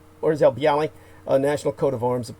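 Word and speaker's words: Orzeł Biały: It's known as the Orzel Bieli I know I'm not pronouncing that correctly. More like something like Orzel, like a real harsh Orzel Bialy, National Coat of Arms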